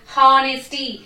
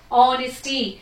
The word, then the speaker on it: honesty: H silent here. So how we have to pronounce these words? Our, our. ఇక్కడ O తో పలుకుతున్నాం మనం. Our, honest, honesty.